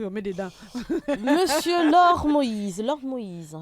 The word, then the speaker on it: Moïse: Monsieur Lord Moïse, j'ai bien prononcé votre nom? Exactement, très bien.